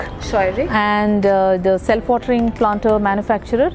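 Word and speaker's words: Scheurich: This is a company, and how do you pronounce it? It's called Scheurig. Scheurig.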